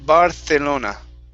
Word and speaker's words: Barcelona: word barcelona especially from people from spain they will say barcelona and they will use a th sound okay all right so